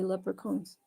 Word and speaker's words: leprechaun: Yeah, it's spelled with a ch, but you say leprechauns.